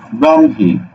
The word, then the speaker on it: ব্রহ্মা: আছে এরপরে দেখো ব্রহ্মা র ফালা যুক্ত আছে কোন কার নাই সুতরাং ওকার হবে ব্রম হয় আকারে হা ব্রম হা ঠিক আছে এবার দেখো